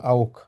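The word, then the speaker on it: auch: like it প্যাকেঞজি আও এটা হবে ক্ষয়ের মত উচ্চারণ আউক ঠিক আছে অলরাইট গুড খুবই ভালো বলেছেন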